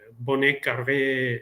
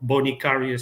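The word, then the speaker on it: Bonnet Carré: The name is Bon Car spillway or Bonicaria spillway depending on on the pronunciation that you want to use.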